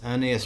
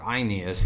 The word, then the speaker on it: Aeneas: Well, pretty much, as Virgil's gonna have as his main character is Aeneas or Aeneas, it would be way back when, but most people say Aeneas now, makes choices that\ you would prefer not to make, it's about duty, right?